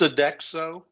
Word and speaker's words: Sodexo: It's Sodexo.